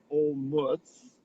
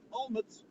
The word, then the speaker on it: Olomouc: name of this town originally we were saying old mutz and then we said all nets and then we realize that in check you pronounce every single letter and so it's for all of us well it's like all emotes like a moat exactly and then the lady on the train said almonds yeah so yeah we're all